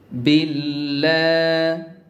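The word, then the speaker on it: بالله: সুবিধা হবে দেখুন আউ বিল্লাহ বিল্লা এখানে লা বলতে হবে কেন লা বলতে হবে বা নিচে জের এসেছে এখানে দেখুন তো আমরা জানি আল্লাহর নামের আগের অক্ষরে যদি জের আসে বা কাসরা আসে তাহলে আল্লাহর নামের মাঝের অক্ষরটিকে বা আল্লাহর নামের সেকেন্ড অক্ষরটিকে লা পড়তে হয় এই নিয়মটি মনে রাখতে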